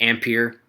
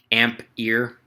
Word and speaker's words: ampere: weird saying it wrong it's pronounced ampere amp ear but if you don't